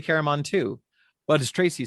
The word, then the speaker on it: Caramon: Caramon. Yeah, I say Caramon too.